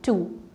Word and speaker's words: two: one is very simple there is w in the spelling t w o but the pronunciation will be 2 there is no twist